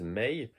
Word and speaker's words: Mei: dire mois de mai, c'est avec une prononciation japonaise Mei.